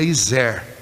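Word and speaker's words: עזר: hebraica a primeira eh a pronúncia em hebraico seria iser e a segunda é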